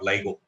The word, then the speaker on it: LIGO: That is the LIGO or LIGO. There are two ways people pronounce it. That doesn't matter. It's okay. I mean, we can choose the way we want.